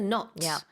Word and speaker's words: knot: your shoelaces tie the knot you'll be Inseparable that's right k k of course is silent and then uptick uptick